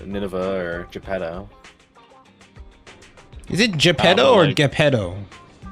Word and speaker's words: Geppetto: It's Italian. Geppetto. Ray says it's Geppetto. Okay. Oh, okay. It is Geppetto.